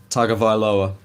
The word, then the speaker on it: Tagovailoa: Do you know how to pronounce the last name? Tagovailoa.